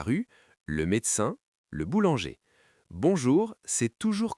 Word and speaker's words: bonjour: Bonjour, c'est toujours correct. Écoutez bien la prononciation. Bon jour. 2 syllabes.